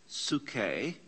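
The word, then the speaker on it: ψυχή: we would talk about the mind sookay which we pronounce in english as psyche and we would say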